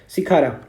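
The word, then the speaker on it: Shikara: Tulip हम लोग देखते हैं ये सिकारा का ऐसे स्पेलिंग होता है एस एच आई सी खारा। ठीक है? सिखारा या सिकारा।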